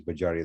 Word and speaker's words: Bajari: a gentle correction so my last name is bajari the j is pronounced just wanted to clarify